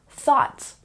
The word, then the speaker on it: thought: here are some examples like thought don't say the GH it's not thg no no no g h is silent so we say thought